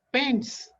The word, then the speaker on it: pens: Not always, not always, because here is a pen, the plural of pen, that is pens. Here the pronunciation is sir.